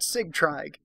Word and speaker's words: Sigtryg: We're going to pronounce that Sigtryg, because it's spelled Sigtryg. Sigtryg.